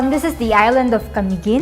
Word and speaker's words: Camiguin: So, this is the island of Camiguin. It's Kamigin. an island. Yeah. trying to learn It to has pronounce more how to volcanoes pronounce.